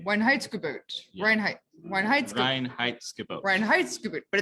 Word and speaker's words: Reinheitsgebot: The Weinheitsgebot? Reinheitsgebot. Weinheitsgebot. Yeah. Weinheitsgebot. Reinheitsgebot. Reinheitsgebot, but it's spelled with a W.